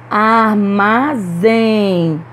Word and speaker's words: armazém: paletó também é oxítona armazém armazém pronunciamos com mais força a última sílaba então essa palavra aí também é oxítona e já quando a